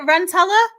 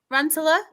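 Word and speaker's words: Rantala: Jutter, is it Rantella? Rantula. Yeah, Rantula. We'll do that.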